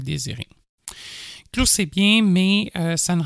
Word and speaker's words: Clew: Et donc, en recherchant Clou, Clou, ça s'écrit C-L-E-W. Donc, C comme Charlie, L Lima, Echo W Whisky.